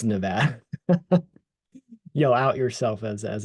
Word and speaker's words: Nevada: yourself in that neck of the woods it's Nevada you'll out yourself as as a non-local um